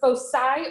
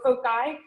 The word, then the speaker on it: foci: the way so um that you can um pronounce that word fosai or folk guy i heard another teacher pronouncing it foci and i'm like that does not sound great so i went and looked it up they're both correct so just for the